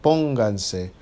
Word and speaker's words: pónganse: As soon as I add an extra syllable, I now have to mark where the original stress is, and that's where you hear it, pónganse.